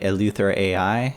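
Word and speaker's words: EleutherAI: They're both open source, provided by Eleuther AI. I'm pretty sure that's how you pronounce it.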